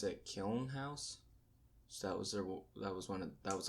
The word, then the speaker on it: Kiln House: I think you pronounce it Kiln House.